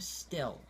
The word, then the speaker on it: Stille: So next we have the Shimano Still. This is a new reel. It's spelled Stille. Okay?